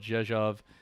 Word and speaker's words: Rzeszów: near a town called Rzeszów. And I know I have problems pronouncing it. It's called Rzeszów, and the town is called Dynów.